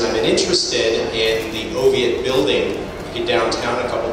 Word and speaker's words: Oviatt: Not Oviatt, which sounds a little more sophisticated, but Oviatt. That's how it's pronounced, where he comes from.